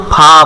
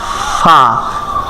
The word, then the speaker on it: ف: غین ফা এখানে কিন্তু অনেকে ফা বলে ফা ফা বলে এখানে হবে ফা নিচের ঠোঁটের পেট নিচের ঠোঁটের পেট সামনের উপরের দাঁতের আগার সঙ্গে লাগাইয়া ফা ফা ফা তারপরে